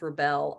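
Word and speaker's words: Rebelle: I've heard it pronounced rebel. I just always called it rebel. Is that what it is technically? They say rebel, like belle of the ball or belle of the south.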